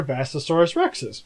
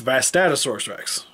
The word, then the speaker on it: Vastatosaurus Rex: Because I've had so many people go, those aren't Tyrannosauruses, those are Vastasaurus Rexes. So while editing this video, I realized that I say the name wrong here, and it's Vastatosaurus Rex.